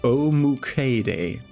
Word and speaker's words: Omukade: And the Great Centipede, pronounced Omukade.